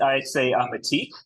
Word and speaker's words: Mattiq: Am I pronouncing that correctly? You can say it however you like. I say Mattiq, but certainly the IQ infers that there's some